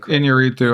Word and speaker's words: Iñárritu: And then an October film by Alejandro, I don't even know how to pronounce his last name. Iñárritu, I believe.